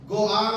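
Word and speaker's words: גואל: का एक प्रथा था छुड़ाने वाले को यहूदी भाषा में गोआल कहते हैं जी ओ ए एल गोआल कहते हैं कभी कभी सेे गोल भी कहते हैं आल का उच्चारण भी होता है एल का उच्चारण भी होता है गोल का इस्तेमाल होता है उसी शब्द को यदि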